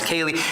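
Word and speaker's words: ceilidh: it a Kaylee and it's spelled in interestingly said the Celtic spelling c-e-i-l-i-d-h pronounced Kaylee and essentially means that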